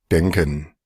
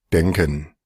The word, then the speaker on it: denken: denken, Ahí está la K, ahí está un Eshba al final, hay una E abierta y se escucha claramente. denken, Ahora, estas, denken, denken, denken, estas dos denken, son estas.